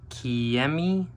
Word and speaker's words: Kemei: Okay, so to be honest, I ordered this from eBay and the brand on the eBay ad said Kemei is how you say it. I believe it's spelled K-E-M-E-I, but they make a bunch of different models.